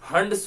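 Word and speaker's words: Hund: और हाँ, इसमें इलेक्ट्रॉन्स हम लोग हुंस रूल के हिसाब से भरेंगे। हुंस रूल बोलो या फिर हंड्स रूल बोलो, जैसे आपका प्रोनाउंसिएशन है, समझ रहे हो?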